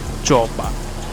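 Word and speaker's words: Joppa: You're a random fisherman in the city of Jopa. I don't know if I'm saying that right, but it is spelled J O P A.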